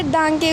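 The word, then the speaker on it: Danke: अब देखो इसने हमको प्रोनाउंसिएशन के बारे में बताया है कि हेलो को हम इनके हेलो बोलेंगे। और दांके को दंका, पिटे को बिटा।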